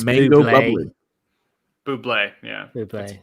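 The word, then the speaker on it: bubly: mango it's mango bubbly buble yeah blueberry it's pronounced booplay look i i uh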